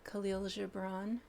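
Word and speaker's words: Kahlil Gibran: called The Prophet by khil Jabron at least that's how we pronounce his name in America he says your joy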